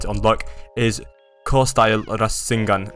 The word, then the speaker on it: Rasengan: All right guys, now we've reached level 400 with our bloodline, which means we can unlock the next move, core style Rasengan.